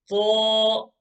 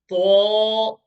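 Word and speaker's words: ظ: It is pronounced the same way as Tha and Dhal. Tho is also pronounced from the same place, the tip of the tongue touching the edge of the front 2 teeth, the edge here. But the difference is that this time we shall pronounce it with a full mouth.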